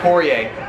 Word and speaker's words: Poirier: Poirier.